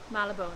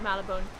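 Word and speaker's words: Marylebone: area called um how do you say it malabon yes we're in the area of malabon um quite nice actually it's obviously a very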